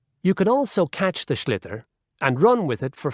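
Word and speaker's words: sliotar: you have to get this ball called a slither that's SL IOT a or so it's not spells the way it's pronounced you his ears into the net for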